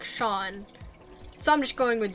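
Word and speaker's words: Sian: The name is S-I-A-N, and you told me to pronounce it Sharn. But I feel like if I were to pronounce that with an English accent, it would be like Sean.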